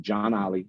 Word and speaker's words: John Ollie: media um if you type in my name John Ollie which is spelled j-o-h-n-o-l-l-i-e just like that j-o-h-n all one